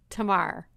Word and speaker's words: Tamar: And I swear I just said your first name wrong. Give me your first name. Tamar.